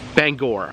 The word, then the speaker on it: Bangor: I was corrected yesterday people say it's Bangor which is ironic because Stephen King known to be a little gory so Bangor is fitting so um Bangor is